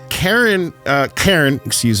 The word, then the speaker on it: Cairn: Cairn, one syllable, yes. Yes, let's not confuse people with manager calling. Yes, this is the C-A-I-R-N in case you're driving and wondering what we're talking about.